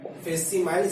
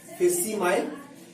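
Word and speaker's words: facsimile: क्या याद रखोगे, फेसिमाइल, स्पेलिंग देख लेना, यहाँ पे सी साइलेंट होता है, फेसिमाइल, या फिर आपके बुक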